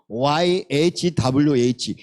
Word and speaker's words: Yahweh: 고 캐 가 h 바램이 고 와우가 w 발음이 고 해가 hr 이기 때문에 yahweh 너무나 귀한 근데 이 차음 밖에 몰라요 그래서